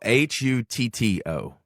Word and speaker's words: Hutto: you spell it no hu t t o hu the Hut Hipp but it kind of rolls off the tongue as Hutto yeah when Matt's from